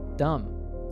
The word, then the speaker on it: dumb: Words in English that end in MB are usually pronounced with a silent B, so we say bomb. Here are other examples where the letter B is silent. Repeat after me. Comb, lamb, dumb, limb, numb.